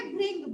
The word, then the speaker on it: भृंग: मात्रा लगी है नीचे, ऐसे ही यहाँ पर इसको प्रोनाउंस करेंगे भृंग, भ्रंग नहीं बोलेंगे।